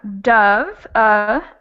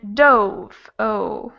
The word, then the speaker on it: dove: what is it so we have dove uh and dove oh the vowel sound changes a little bit the first one is kind of just letting your mouth hang open and you let air come out dove uh but the second one you kind of make your mouth into a small o shape at the end dove dove all right